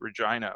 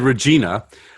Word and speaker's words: Regina: way that they pronounced regina which is the capital of saskatchewan yes yes he said regina uh the way it would be a woman's first name in the united states but more funny than